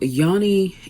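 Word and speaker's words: Jonny: the man's name is Yoni um it's spelled like Johnny but because of the Swedish pronunciation in shione so Yanni is a CEO of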